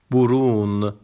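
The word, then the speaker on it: burun: بعدی خب مورد بعدی برون ب رون یو بین نقطه به او تلفظ میشه برون دماغ مورد بعدی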